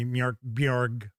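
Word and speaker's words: Mörk Borg: Mark Morg. I think that's how it's really supposed to be. I think it's supposed to be M Borg, but even the designers of the game don't pronounce it that way.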